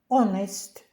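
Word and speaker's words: honest: ще є кілька слів Де вона не вимовляється наприклад ауе година тобто 60 хвилин оest чесний ось це ми вже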